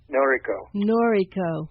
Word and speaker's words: Noriko: Do you pronounce it Noriko? Noriko.